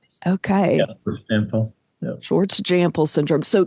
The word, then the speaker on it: Jampel: Is that how you pronounce it? Jampel? Yep, that's right. Okay. Yeah, Jampel.